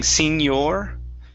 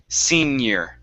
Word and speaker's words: senior: is senior senior year now the ior at the end of senior instead of saying senor okay it's senior senior year senior year good one